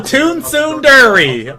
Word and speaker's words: Tsundere: It's called Tsundere, okay? Dale, you gonna pronounce my anime waifus right if you tell about.